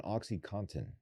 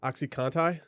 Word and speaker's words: OxyContin: about it focuses on oxycontin you hear about this i've dabbled it's a question yeah do most people pronounce the n in that word it felt like you